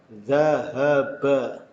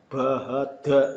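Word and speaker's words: ذهب: Zal fathah za, ha fathah ha, ba fathah ba, zahaba. Bukan dari kiri ke kanan ya. Bahada ini salah. Karena aturannya membacanya dari kanan ke kiri.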